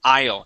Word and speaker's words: isle: is isle okay uh the AI at the very beginning makes an i sound the S is silent okay so the word is isle try that one more